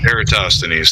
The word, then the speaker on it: Eratosthenes: It's the same as as a lot of people like to claim that I can't pronounce the name, but Eratosthenes or whatever, the one that Eratosthenes. Eratosthenes, thank you.